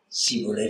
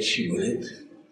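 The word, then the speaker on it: Shibboleth: Siboleth, Chiboleth. Et effectivement, cette confusion, disons entre le sim et le chim, était très répandue chez les Marocains au Maroc.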